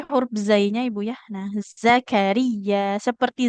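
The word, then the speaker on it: زكريا: Tidak ja tapi za. Zakaria. Zakaria Ro-nya nggak panjang, jadi bukan Zakaria, tapi Zakaria. Huruf ya-nya ditekan.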